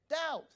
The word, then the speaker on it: doubt: Pastor Paul, I don't know how you would say it, but doubt in English is spelled how? D-O-U-B-T. Where did the B come from?